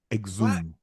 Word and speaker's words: exhume: Exhume. Okay. Well, do I get any kind of credit? The H is silent.